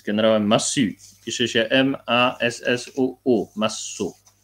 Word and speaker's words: Massu: w ogóle, de Gaulle, czyli z generałem Massu, pisze się M-A-S-S-U-U, Massu.